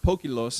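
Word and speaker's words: ποικίλος: Now, the interesting thing about this word that Peter uses, in the Greek, it's pronounced pokilos, and I'm just in the 21st generation here, an American trying to pronounce Greek, okay?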